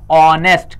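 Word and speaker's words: honest: हिसाब से चलना है इसको पढ़ने क्या है ऑनेस्ट नहीं पढ़ने पढ़ने हैं साइलेंट होता है और पढ़ने हैं ऑनेस्ट क्या पड़ता है ऑनेस्ट तो इसलिए ऑनेस्ट के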